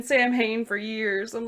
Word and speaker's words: Samhain: lore and legends or samhain or if we're really woke and we know how to say it properly it's literally gaelic so it's pronounced something like sawin which okay i'll leave